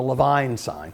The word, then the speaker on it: Levine: talk about, interestingly enough, I would call it the Levine sign, but they pronounce their name the Levine sign.